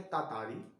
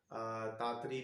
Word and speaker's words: Tartary: Second point जो है viewers उसका नाम है तातारी। इसको मिस प्रोनाउंस करते हैं, तातारी भी बोलते हैं, तातरी भी बोलते हैं, लेकिन इसकी जो सही प्रोनाउंसिएशन है, वो व्यूअर्स है तातारी, जिसे लिखा है वोल्टर जॉन डी ला मेयर ने।